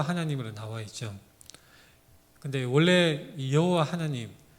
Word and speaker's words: 야훼: 근데 원래 여호와 하나님, 여호와라는 이 이름은 원래의 정확한 발음은 야훼입니다. 야훼.